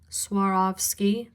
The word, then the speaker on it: Swarovski: Um, S Swarovski crystal. Suarovski. Three syllables.